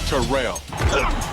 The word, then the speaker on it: Terrell: two thousand yard claim is pronounced to rail Terrell Davis joins an